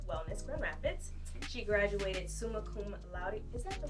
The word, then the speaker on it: summa cum laude: She graduated summa cum laude. Is that the right way to say that? Mm-hmm. Summa cum laude.